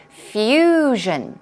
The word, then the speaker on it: fusion: your attention or curiosity Fusion stress goes right there on the first syllable fusion it's a blend